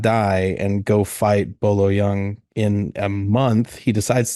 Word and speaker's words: Bolo Yeung: Bolo Yeung.